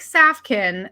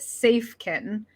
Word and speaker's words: Safken: website which is uh it looks like safkin but is pronounced safe kitten yeah so everybody knows